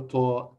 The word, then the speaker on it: ط: So how can I pronounce and read the name of letter Ta? Ta with full mouth, because the Ta letter is a heavy sound of Ta.